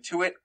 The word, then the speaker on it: Tuitt: The left end position is Steven Tuitt, or Tutt. I think it's Tutt, but it's spelled like Tuitt. I don't know. I never really know.